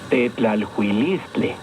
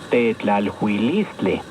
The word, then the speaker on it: Tetlalhuilistle: Tetlalhuilistle. ¿Escuchaste con atención? Tetlalhuilistle. Recuerda que en el náhuatl las palabras se acentúan en la penúltima sílaba.